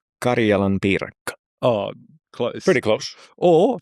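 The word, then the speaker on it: karjalanpiirakka: I'm glad it's you doing the pronunciations. Okay. It's Karelian pie, but it's called Karjalan piriraka. Karjalan piirakka.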